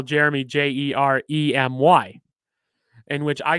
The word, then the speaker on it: Jermey: you're pronouncing it it's germy but i say it as jeremy just because that's how it's pronounced with the regular spelling but yeah you can